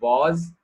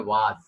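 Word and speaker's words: was: वॉज बोलने के 2 तरीके होते हैं या और भी कई ज्यादा हो सकते हैं। मैंने काफी लोगों को सुना है वो लोग बोलते हैं वाज या फिर बाज, राइट?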